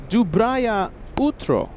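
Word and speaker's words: доброе утро: Kevin, our executive producer, says, "Peter, that was almost perfect pronunciation." Dubria utro.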